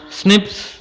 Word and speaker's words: SNPs: அப்புறம் pronounce as ஸ்னிப்ஸ். இதை ஸ்னிப்ஸ் அப்படின்னு நாம் வந்து சொல்ல வேண்டும், அதாவது கூற வேண்டும்.